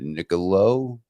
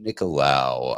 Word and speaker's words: Nicolao: with pronouncing this one is it Nicolo nicolau nicolao I was that was that was actually my gut instinct uh and I should have went with it uh Ted nicolao uh you may know